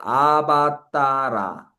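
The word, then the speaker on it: अवतार: 그다음 이것도 아바따라 아바따라 아바따라 따를 좀 더 길게 해 줘야 되겠죠. 원래는 아바따라 하면은 아바가 아래로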